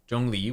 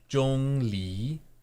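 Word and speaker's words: Zhongli: go Bonkers here okay so Jung Lee we mentioned before yes um Legend but pronounced Jong Le Jong Le Lee mhm Jong Le the second T Rising tone is sort of like you're asking a question J J Le J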